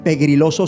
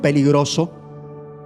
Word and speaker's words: peligroso: a mi pastor que no se dice pegriloso sino peligroso.